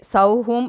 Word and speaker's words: சௌம்: இதில் சௌம் என்பது சௌஹூம் என்று உச்சரிக்க வேண்டும்.